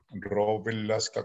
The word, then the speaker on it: Rovelasca: Y el pueblecito, perdón, la ciudad grandísima donde vivo, 7.500 habitantes, se llama Rovelasca, Rovelasca con doble L, y hay que pronunciarlo bien porque si no, no dice otra cosa.